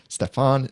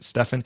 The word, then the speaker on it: Stefan: there is a king regardless of where you emphasize your syllables in the name right Stefan Stefan but by the way